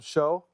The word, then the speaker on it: Shough: We didn't know how to pronounce his name. Yeah, you call him Shough?